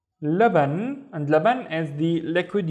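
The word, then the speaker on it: لبن: This is the la, la. And then what do we have in here? Ban, laban.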